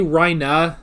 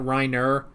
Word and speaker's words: Reiner: say his name granted i think they say rhina not reiner but like i i know